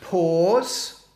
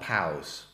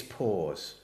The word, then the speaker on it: pause: The next word is pronounced pause and not pause. It's pause.